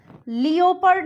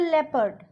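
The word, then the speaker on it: leopard: देखिए जैसे कि पी ई ओ पी एल, इसको हम पियोपल नहीं बोलते हैं, इसको हम प्रोनाउंस करते हैं पीपल. लियोपर्ड नहीं बोलते, इसको हम बोलते हैं लेपर्ड.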